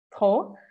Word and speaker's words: trop: Então, não é para pronunciar o P nem o S ao final das palavras. Tá? Vou até marcar eles de vermelho para vocês lembrarem que a gente não fala isso aqui. Trop e tropa, tá?